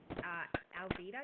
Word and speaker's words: Alvida: But the one that I do remember is Alvida. Is that how you pronounce it?